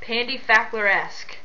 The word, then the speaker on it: PandyFackleresque: thing and haven't haven't asked my username is pronounced Pandy faer esque when I was trying to figure out a